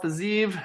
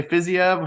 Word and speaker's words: Fiziev: the evening we got Raphael faziv some say physio however you like to pronounce it versus matayash gamrat this